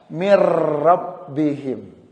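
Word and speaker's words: مِن رَّبِّهِمْ: Min rabbihim. Tadinya min rabbihim. Ketika kita gabung kata-kata ini, maka cara membacanya atau mengucapkannya adalah mir rabbihim.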